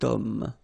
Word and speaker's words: homme: Remember, H is not pronounced, okay, so you've got the sound of O at the beginning of this word, okay, cet homme, so that's the reason